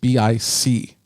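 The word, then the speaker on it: Bích: vietnamese given name of pic kind of pronounced bic like the the pen but it is spelt b-i-c-h and she talks about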